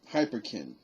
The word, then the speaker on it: Hyperkin: hyperkin and that's actually spelled exactly like is pronounced you know h um h-y-p-e-r-k-i-n so hyperkin uh is